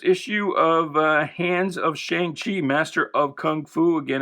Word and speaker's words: Shang-Chi: I was complaining about how they pronounce Shaung-Chi. Uh and uh he wanted to know if this was now Shaung-Hala. No. No, no, no. It is Shang-Hala and this will forever be Shang-Chi in my mind, anyway.